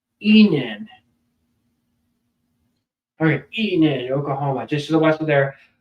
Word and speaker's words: Enid: I feel like I've been pronouncing it wrong all day. So Eden, that's what I thought. So what's Eden? Enid.